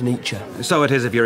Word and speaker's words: Nietzsche: Mr Burkett nature what uh I think it's pronounced nature so it is if you're a German I'm decent Irish Nichi would describe the very existence of conscience as